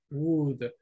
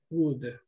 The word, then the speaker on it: would: Estoy programado para leer todas las letras, pero en este caso recuerden que la O y la L es muda. Entonces, wood. Ok, wood.